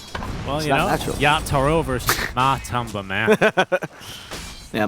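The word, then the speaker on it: Yatoro: sorry when I say when I say on the first syllable I just the T naturally sounds American so I do apologize it should be a stronger team yach Toro yeah yach Toro yeah it's hard right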